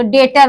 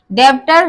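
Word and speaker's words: debtor: डेटर, तो इसमें भी वी साइलेंट है क्योंकि वी के बाद टी आया है, तो डेटर बोलेंगे। डेप्टर नहीं बोलेंगे, वो रॉन्ग प्रोनाउंसिएशन हो जाएगा।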